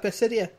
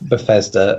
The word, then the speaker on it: Bethesda: Right, can you correct that guy on his fucking spelling and pronunciation of Bethesda before we get to that conference, please? Yeah, it's not Dissidia.